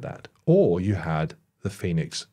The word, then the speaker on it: Fenix: to this is phix it's it's spelled phex pronounced Phoenix Right which is handy because if it was